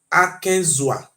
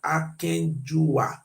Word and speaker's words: Akenzua: Then Akenzua. Oba Akenzua. They tell us say the real pronunciation according to the River book. He said the real pronunciation are Akenjua, not be Akenzua.